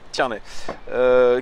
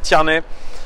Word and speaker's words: Tierney: Yes, I think it's the right word, right pronunciation. Tierney.